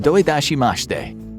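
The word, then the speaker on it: どういたしまして: Well, that's because he's trying to say you're welcome in Japanese, which is pronounced doidashimashite.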